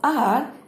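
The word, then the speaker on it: hour: at the beginning of r and harness remains silent the consonant h at the beginning of r and harness remains silent so we use and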